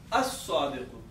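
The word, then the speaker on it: الصادق: from any of these, you won't pronounce lam. Okay. For example, if it is sadiqun, now Swad is one of these. So when you add alif lam, it becomes, lam is silent. So all the emphasis will go to Swad. So we add this shadda here. So it will become as-sadiqu.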